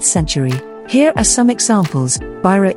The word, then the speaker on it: byrå: Byrå equals office, the Y is pronounced like a U, brochure equals brochure, costume equals costume, apropos equals about.